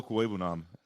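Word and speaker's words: Okwuegbunam: Alberto Cuebunan, that's how you say it.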